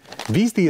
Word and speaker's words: Bheestie: which is called the beasty and beasty is spelled bhe e e s t i e the things you have